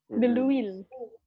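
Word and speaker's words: de l'huile: Deluil. Deluil. Ini H-nya nggak dibaca, H-nya nggak dibaca. Deluil.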